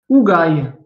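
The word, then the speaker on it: ⲟⲩϫⲁⲓ: En allemand, en anglais, dans d'autres langues, ils comprennent pas que ça se prononce OU. Mais pour les Français, on va dire, c'est notre facilité, le OU, c'est le même. D'accord? En grec, en copte et en français.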